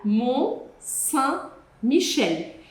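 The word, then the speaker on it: Mont-Saint-Michel: Montpolier, Monreal, Mon Michel. E aqui a gente tem que caprichar na pronúncia da palavra.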